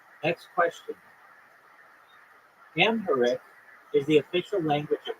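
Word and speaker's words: Amharic: a nonagon have nine is correct next question amher is the official language of what African country amher it's spelled a m h a r i c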